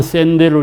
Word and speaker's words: 샌델: 발음은 샌델로 읽어야 한다.